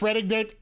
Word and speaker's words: Reading: getting a handicap match it's pronounced reading on Monopoly okay that's new to